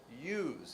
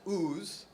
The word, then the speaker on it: use: Y and U. Use. It's not ooze. That would be another word, okay?